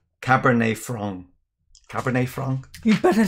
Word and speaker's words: cabernet franc: people i think in this context greg say cab frank instead of cabernet franc is that better greg as it should be pronounced cab is a taxi that's true what